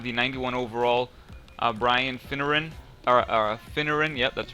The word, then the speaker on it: Finneran: Finneran, yep, that's right. I pronounced that correctly.